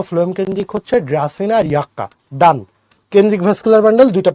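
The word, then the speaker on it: Yucca: আর লেপ্টোসেন্ট্রিকের উদাহরণ হচ্ছে ড্রাসিনা আর একটা মনে রাখবা ইয়াক্কা, এর উচ্চারণ হচ্ছে ইয়াক্কা, ইয়াক্কা।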